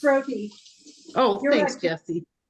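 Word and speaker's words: roti: o t i my sister would know it's Roy oh thanks Jesse say it again it's Roy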